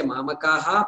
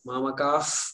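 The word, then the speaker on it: मामकाः: why we have to so we don't say mama kaha on the last day is not that right way to say it mama cough Pandavas J good so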